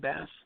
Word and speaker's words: Bast: How do you pronounce that? Bast.